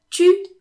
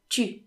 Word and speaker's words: tu: So basically, if tu is followed by a word starting with a vowel or an H, people will usually pronounce it t, t, instead of tu.